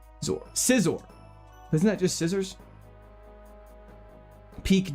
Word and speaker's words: Scizor: However, Caesar is the correct way that I pronounce it, and that's the way I'm going to pronounce it. Can I leave? Sizor. Scissor.